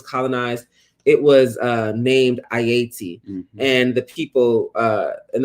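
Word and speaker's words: Ayiti: the island was colonized it was uh named ayati and the people uh and that was the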